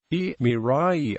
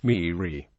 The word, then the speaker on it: Maria: Tasmanians pronounce the name Mira, Mirai, as did the early British settlers, but the original pronunciation was Miri.